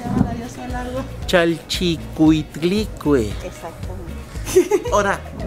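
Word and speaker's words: Chalchiuhtlicue: Chalchicuitlicue. Exactamente. Ahora, ¿pronúncialo usted?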